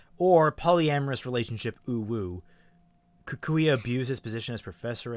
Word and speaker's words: Kukui: Kukui.